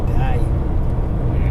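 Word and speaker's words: Dae: D-A-E. I'd say Day.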